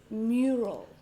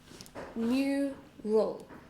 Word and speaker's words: mural: So it has 2 syllables, 2 sounds. Mural. A little bit hard to say. If you have trouble with and they are close together, so it's a little bit difficult to pronounce. Maybe for you, I don't know. This one is stressed. Mural. Mural.